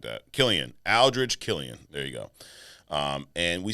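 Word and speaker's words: Aldrich Killian: Aldridge Killian.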